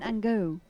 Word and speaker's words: Angot: Corentin Angot from France. Sorry. Corentin Angot from France. Yeah, that makes sense, doesn't it? Yeah, the French don't pronounce their T's very often.